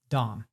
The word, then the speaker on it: DOM: reduced to the acronym of Doom which is pronounced Dom so if you like the Dom is a